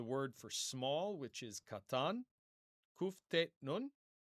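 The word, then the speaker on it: קטן: We come next to the word for small, which is katan. Kuf tet nun. Kuf tet nun. Katan. That means small. Kamatz, kamatz. Two long A vowels.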